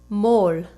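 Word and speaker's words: מול: The answer is mol, and it is spelled mem, vav, lamed.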